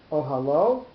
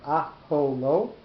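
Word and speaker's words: אהלה: Ohalo, his tent, or aholo, I should say. We'll pronounce it correctly.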